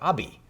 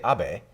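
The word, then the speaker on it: Abe: mean Prime Minister obeys name only has three letters but president Trump always pronounces it differently so he always calls him Prime Minister Abbey and it's kind of funny that this short name it's easy to say a BAE mm-hmm and he says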